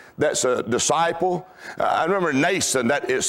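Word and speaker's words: Mnason: I remember Nason, that is spelled M-N-A-S-O-N. Nason, the Bible says he was an old disciple.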